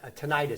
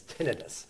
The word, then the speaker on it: tinnitus: But what happens is, I'd like to say tinnitus because it sounds, but the actual pronunciation is tinnitus.